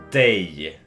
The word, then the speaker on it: dig: repeat after me okay so this word it's day yeah day almost like a day of the week but that's not what